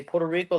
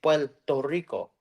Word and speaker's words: Puerto Rico: guyo like for example Mexicans will say Puerto Rico like to Rico like they'll really pronounce everything but Puerto Ricans don't say their RS really well we say like an l sound so we say PTO Rico and saying instead of